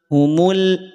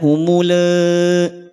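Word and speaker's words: أَصَابَهُمُ: Sehingga bunyinya menjadi al, humul, humul, tidak humule, atau humul. Maka jangan sampai dihentak.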